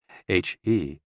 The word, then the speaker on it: he: HE, pronounced like her, with a yawn, which is associated with the heart.